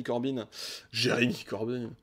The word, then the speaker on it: Corbyn: D'un côté, l'élection de M. Jeremy Corbyn, je prononce vraiment très très à l'anglaise, à la tête du Labour, a marqué le début d'une radicalisation idéologique.